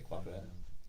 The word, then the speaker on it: Capoeira: How do you say Capoeira?